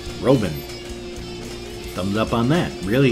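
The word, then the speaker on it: Roeven: pronounce my last name and it's german is pronounced exactly the way it spelled r 0 e ven roben thumbs up on that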